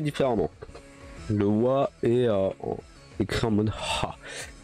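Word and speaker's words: は: Alors, la particule wa se prononce justement comme ceci, mais qui s'écrit ha et qu'on prononce wa.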